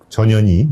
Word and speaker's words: 전현희: 예, 연말까지 저 방통위원장과 국민권익위원장, 네, 한상혁, 그 다음에 전현희, 예, 이름이 전현희입니다. 발음이.